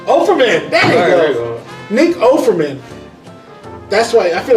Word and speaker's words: Offerman: And I feel like that's why Nick Fortman, I can't pronounce his fucking name. Offerman? Offerman! There you go. Nick Offerman.